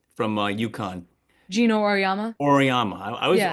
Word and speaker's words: Auriemma: Oriyama. I always Yeah. always want to say Uriyama. It's Oriyama, right?